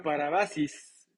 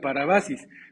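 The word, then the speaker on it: παράβασις: es la palabra griega parabasis creo que la pronunció bien pero si no perdónenme no sé griego pero parece que se se escribe se pronuncia parabasis pero su significado es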